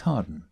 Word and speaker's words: Hawarden: His investigations suggested that Lucas's real name was Thomas Harden, surname spelt Howarden, but, as with the village near Dodleston, locally pronounced Harden.